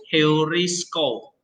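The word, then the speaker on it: εὑρίσκω: Heurisko. Nah, itu diucapkan seperti suara H.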